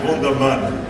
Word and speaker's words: Wunderman: I call it Wunderman. That's the correct pronunciation.